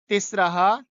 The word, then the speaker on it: तिस्रः: ऐसे ये जो यहाँ पर लिखा हुआ है ये तिस्रा नहीं है, ये तिस्रा नहीं है, ये क्या है? तिस्रः।